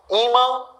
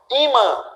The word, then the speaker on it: ímã: ímã e órfã. Ímã e órfã. Duas palavras aqui, olha, divisão silábica. Ímã, órfã. Sílaba tônica, im, or. Sílaba tônica é a penúltima.